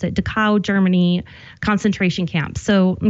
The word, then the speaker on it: Dachau: he was there, and he helped free the Dachau, I think that's how you pronounce it, Dachau, Germany concentration camp.